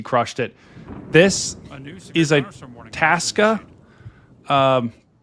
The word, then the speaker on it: Itasca: This is a Itasca. Is that how you pronounce it? Itasca.